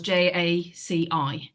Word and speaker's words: Jaci: is called Jackie, but we spell it in Wales Jaci, because the C is hard in the Welsh language.